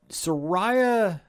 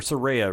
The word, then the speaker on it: Saraya: week on parlay points Soraya or Saraya rather I'm sorry that's not the technical pronouncing of her name is a big deal